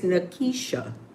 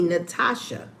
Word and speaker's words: Nakesha: My name is Nakesha. Nakesha. Nakesha. I don't know how every teacher of Caucasian descent called me Natasha.